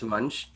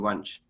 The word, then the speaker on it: Vansh: discussed with my name's Vansh. Okay. One, the numeric number, and that's how you say my name, Vansh.